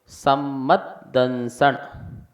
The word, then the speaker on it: सम्मदंसण: सम्मदंसण, सम्मद ये दो दा हैं, एक दा इसके साथ बोलेंगे।